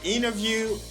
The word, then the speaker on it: interview: today in american english they drop the t they don't pronounce the t and these words they say interview internet 20 dennis center lenny international quantity thank you for